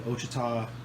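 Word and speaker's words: Ouachita: the Eagle Rock Luke in the OSHA tah National Forest blue that's how you pronounce it it's going to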